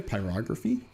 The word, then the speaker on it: pyrography: Pyrography.